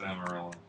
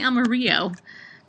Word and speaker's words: Amarillo: If you're Caucasian, it's Amarillo. I always say Amarillo.